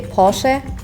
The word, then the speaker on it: Porsche: So like in Germany we say Porsche, but like English people We would say Porsche. Porsche, yeah.